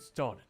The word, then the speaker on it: started: Now then, let's get started. Sorry, I forgot British people, they pronounce the T.